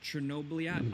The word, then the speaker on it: Chernobylite: Next, over at number 19, we have Chernobylite, or how it's actually pronounced. It's kind of like Chernobyliat.